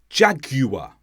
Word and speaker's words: Jaguar: G guilty guitar but not always for example Jaguar anguish in these words we do pronounce the you and many others this is